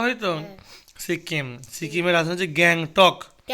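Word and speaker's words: Gangtok: বাজার স্টেট বলা হয় সিককিম সিককিমের রাস হচ্ছে গ্যাং টক গ্যাং টক জি এ জি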